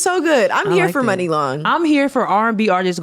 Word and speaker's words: Muni Long: She's I hear people pronounce her name Muni Long. People just don't know. They just don't know. Long. Yeah, that's what I'm like. I know I'm not saying it wrong. It's Money Long.